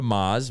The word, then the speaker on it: Maz: and i have a million ways to remind people to say maz i go like lamaze mazda maserati mazatlan i know you gotta